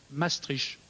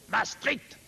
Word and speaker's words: Maastricht: fait pas peur et ceux qui sont plutôt content disent plutôt la stricte ses strictes c'est sec c'est contraignant c'est presque menaçant je crains que la prononciation exacte pour être honnête intellectuellement ne soit peut-être pas du côté de la douceur mais pardonnez moi si